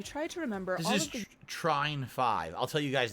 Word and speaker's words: Trine: is actually balanced the Trine games have long been held as fantastic oh is that how you pronounce it Trine I always thought it was Trin I guess it's pronounced Trine okay co-op games and